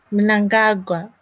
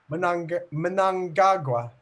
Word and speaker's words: Mnangagwa: Mnangagwa. Mnangagwa.